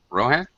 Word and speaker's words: Rohan: me uh also welcome Rohan to the class hello teacher hello am I pronouncing your name correctly yes yes I am Rohan yeah like like uh like in uh Middle Earth uh the yeah exactly